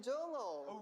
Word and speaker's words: Jongho: I'm Jongho.